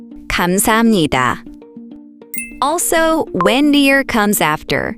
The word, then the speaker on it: 감사합니다: That's why we say 감사합니다, 감사합니다.